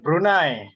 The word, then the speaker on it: Brunei: which is around twenty something to thirty something brunei dollars right and i agree that is the embraced brunei clothing crisis that is all from me thank you okay thank you for the correction yeah brunei not brunei brunei guys tonight this has